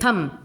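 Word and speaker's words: thumb: थंब, वैसे ही थम, इसको बोलते हैं थम, नहीं कि थंब, ऐसे नहीं बोलते, थम, B का प्रोनाउंसिएशन नहीं हो रहा है, ठीक है।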